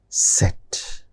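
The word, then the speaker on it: Zett: Then set. set zed which you see as in English in German it is set.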